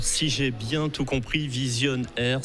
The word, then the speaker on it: Vizion'R: Et alors, si j'ai bien tout compris, Vision Air s'écrit s'orthographie V-I-Z-I-O-N apostrophe R. Vision Air comme radio. Air comme radio, exactement.